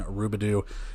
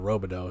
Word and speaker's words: Robidoux: Over to the other side for Iowa, a lot better of a performance from Harrison Rubidoux, which that's how it's pronounced, Rubidoux instead of Robidoux.